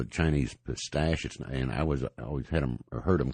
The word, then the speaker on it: pistache: You called it Chinese pistache, and I always heard them called Chinese pistachio. Is it actually pistache and not pistachio? It is pistache, is the actual name, but some people say pistachio.